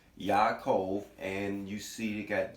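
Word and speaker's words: Ya'akov: you see the name the connect pronunciation of the name is Yaakov and you see it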